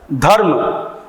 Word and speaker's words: धर्म: व्यंजन गुच्छ के साथ स्वर का उच्चारण, धर्म, धर्म, धर्म, आधा र का उच्चारण होगा, यानी इस र के साथ अ युक्त नहीं रहेगा।